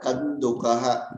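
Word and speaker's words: कन्दुकः: Even if it is written with the dot on top, it has to be specifically pronounced as Kandukaha, the way it is written here.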